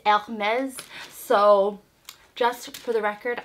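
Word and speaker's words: Hermès: It is actually Hermes in French. I know a lot of people say Hermes or Hermes. It is Hermes.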